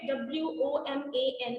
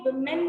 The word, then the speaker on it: woman: अच्छा, ये जो वर्ड है ना बेटे, WOMAN, इसको अपने women नहीं कहना है. The correct pronunciation is woman. Okay, जैसे हमारा मन होता है ना, मन. Okay, just like that.